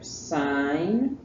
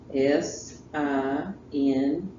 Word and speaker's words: sine: the three things here sign and that's pronounced s i n e it is not pronounced sin you sound uneducated if you say sin all right sin is